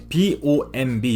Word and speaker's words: bomb: 아닙니다 부모라고 부르셔도 돼요 bomb 여기서 마지막 비는 소리 값이 없습니다 또 다른 애가 슈트